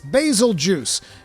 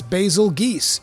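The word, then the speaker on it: Bazelgeuse: there's some uh there's some discrepancies in how people want to pronounce basically some people are saying it's basil juice it's basil geese it's a bit i don't care okay i'mma call it basil goose if you have a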